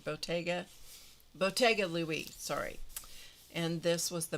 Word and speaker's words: Bottega Louie: It's pronounced It's spelled with a T. Bottega. Bottega Louie, sorry.